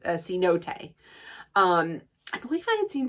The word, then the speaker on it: cenote: I believe maybe like last year or a cenote, that's how you pronounce it, a cenote.